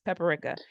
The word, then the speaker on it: paprika: It's paprika.